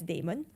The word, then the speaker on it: Blockdaemon: Like some of my colleagues still call it demon, like Blockdaemon. But I mean, I got used to pronounce it as Daemon.